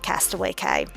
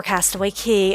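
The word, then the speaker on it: Castaway Cay: off like ocean K Cast Away K or Cast Away key Ocean Key um depending on how you like to pronounce it but um I will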